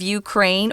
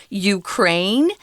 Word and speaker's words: Ukraine: we're talking about a Russia's invasion of Ukraine or Ukraine you can pronounce that country either way when you invade a